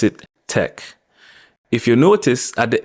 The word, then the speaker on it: take: this word other than the fact that we pronounce IT Tech if you notice at the end of every